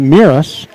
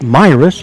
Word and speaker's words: Miras: christi myras classic tournament i've been mispronouncing it miras it's my risk i learned the timberwolves